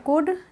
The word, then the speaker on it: could: अब कुड फिर से आ गया, इसमें L साइलेंट रहता है तो हम इसको पढ़ते हैं कुड, न कि कुल्ड। कुल्ड नहीं पढ़ेंगे इसको, अगर कोई पढ़ता हो तो उसको कुड पढ़ना शुरू कर दे।